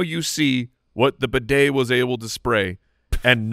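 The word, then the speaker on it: Badie: Apparently, we've been saying his name wrong the whole time. We thought it was Beatty, but it is Tyler Bidet.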